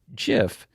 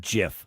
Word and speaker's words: GIF: displayed on screen read, "It's pronounced J-I-F, not G-I-F."